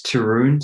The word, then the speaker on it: Taryn: Yep, it's Taryn, so kind of rhymes with broom.